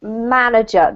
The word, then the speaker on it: manager: I just wanted to say the pronunciation is manager. The emphasis is on the first syllable, okay?